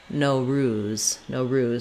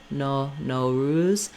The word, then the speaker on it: Nowruz: to practice this one, you might want to start with saying ruse, Nowruz, so that you have that syllable stress correct. We don't need an American O here. It doesn't need to be a long O ruse, Nowruz, but most Americans will still, any O they'll say with a diphthong O.